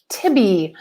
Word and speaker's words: Tibby: And I will be back here the next week with, I'm hoping, with is her Tribby? It's Twibby. Tibby. I can never say it right. Say it again. Tibby.